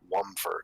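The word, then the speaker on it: Womford: Wumford, that's how you pronounce it.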